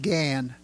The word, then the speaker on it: Gand: and I was told forget the D it doesn't count it's still pronounced Gan and in fact the